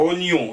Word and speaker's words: oignon: Et quand on va à oignon sans i, il nous dit oignon, prononcé presque oignon en 2 syllabes. On voit mal comment on pourrait le prononcer en une seule, à moins que Richelet,